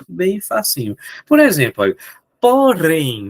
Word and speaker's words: porém: Por exemplo, olha, porém, vamos separar a palavra porém para ver quem é a sílaba tônico. Porém, é a última, professor. Show de bola. É, é, professor, é a última. Então ela é uma oxítona.